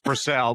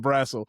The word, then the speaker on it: Brassel: It's Brell, but it's fine. It doesn't matter. It's got it's s e l too. And I still said brassle. I think it's because I